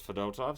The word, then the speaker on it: Fedotov: Fedotov, the backup, and that's how they were pronouncing it, was Fedotov, so I will pronounce it that way.